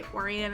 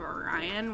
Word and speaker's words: Orion: He says he when he says his name, he said it like Oran. So, I'm trying to say Orian instead of Orion, which is the way that I would normally pronounce that name.